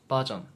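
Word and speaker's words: バージョン: Japanese version Just say it the Korean way That "version" Change the "ver" to "va" Sounds like va-sion Okay Right Japanese version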